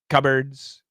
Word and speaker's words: cupboards: we say cupboards there's no p the p is gone adios and this sounds exactly like birds cupboards cupboards blackbirds blackbirds big